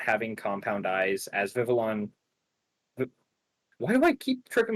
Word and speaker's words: Vivillon: But yeah, as was mentioned before, we do see the payoff to not having Compound Eyes as Vivillon.